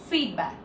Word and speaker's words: feedback: So the correct one is feedback. You're stressing on feedback, feedback, feedback.